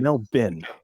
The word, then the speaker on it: Melbourne: pronounce Melbourne, Australia as Melbourne. Yeah, So, Melbourne. it's Melbourne. There's no born.